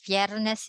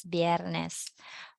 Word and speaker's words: viernes: there next what's next remember V and uh B does not have a difference when you pronounce it you can pronounce it viernes you can pronounce it as biernes okay sabado and what